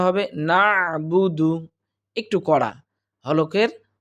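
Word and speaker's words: نعبد: থাকি কিন্তু উচ্চারণটা হবে নাবুদু একটু করা হলকের কণ্ঠনালীর মাঝখান থেকে উচ্চারণ হবে নাবুদু নাবুদু অর্থাৎ হালকা করে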